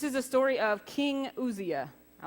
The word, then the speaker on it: Uzziah: you're good this is a story of King Uzziah I like that name I had to listen to it just to make sure I pronounced it right King Asya he was one of the kings of Judah